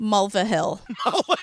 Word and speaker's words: Mulvihill: Mulvihill.